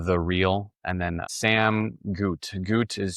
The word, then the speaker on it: Gute: You can just search up the real Sam Goot. I'm a real person. So, the real and then Sam Goot. Gout is spelled gu.